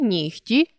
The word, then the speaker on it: нігті: можемо це відбувається у словах де звуки уподібнюються один до одного за глухістю таких слів 5 легко вогко кігті нігті дьогтьом нам складно зрозуміти яку ж саме літеру писати у цих словах адже у вимові дзвінкий г уподібнився до глухого х тому для того аби